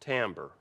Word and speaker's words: timbre: another element of Music Timbre looks like Timber pronounced Timbre right and it means